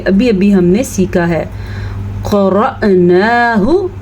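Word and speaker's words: قرأناه: ہم نے سیکھا ہے۔ قرأناہ، را زبر حمزہ ساکن، را کو پر پڑھنا ہے، نون کھڑی زبر نا کو لمبا کر کے پڑھنا ہے، اور ہا کے تلفظ کا خاص خیال رکھنا ہے۔ فتبع، عین کی آواز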